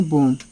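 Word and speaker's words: bomb: पढ़ेंगे क्या पढ़ेंगे कोम बी ओ एम बी यहां भी क्या है बी साइलेंट है तो इसे क्या पढ़ेंगे बोम और टी ओ एम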